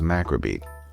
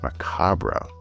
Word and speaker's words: macabre: So, when little boy me read this word for the first time, he thought it was macabre. Now, I've also heard it pronounced macabra, so I don't know which is technically the correct one.